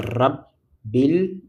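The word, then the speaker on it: رب العالمين: les lire lier en on peut les lier grâce à hamz cette hamz de liaison qu'on appelle hamzle permet de lier les deux mots. Et donc la lecture de ces deux mots là, ça c'est ça rabilamin.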